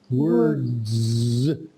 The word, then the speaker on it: words: you see this word word is easy to say were word but now words is it's it's more difficult uh it comes like this word words words yes yes yeah